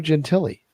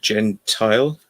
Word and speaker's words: Gentile: the Paranormal uh Lou gelli were you were you familiar with Lou gelli I might have pronounced it Gentile gen Gentile yeah Gentile yeah yeah uh but